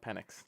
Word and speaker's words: Penix: Alec Penix.